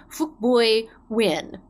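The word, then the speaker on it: Phuc Bui: like an expletive again it was p h u c b u i is how you pronounce it and he thought it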